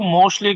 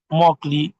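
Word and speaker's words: Mauchly: Discuss कर रहे थे, कुछ स्टूडेंट इसको मोस्टली कहते हैं, कुछ मोस्टली कहते हैं, सो बट the correct pronunciation of this is द मॉकली test.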